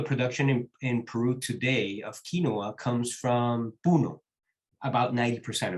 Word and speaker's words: quinoa: Your story, Stephen, reminds me of what's going on with quinoa Incidentally, it's pronounced quinoa, not quinoa, like we say in English.